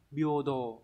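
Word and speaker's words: 平等: Nhưng mà riêng trong từ này nó không đọc là he mà đọc là bio nhá. Chữ đẳng nghĩa là đồ, có trường âm như vậy, đúng là bio đồ, đáp án đúng là số 2.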